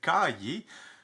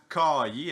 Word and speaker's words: caillé: Peut-être que partout sur la planète, on ne prononce pas le mot de la même façon. Ici, je dis tout le temps caillé avec un accent québécois. Peut-être que là, chez vous, vous dites caillé.